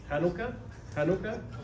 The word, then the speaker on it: Hanukkah: Nosotros tal vez la conocemos como Hanukkah. ¿Hanukkah? Sí, así se pronuncia.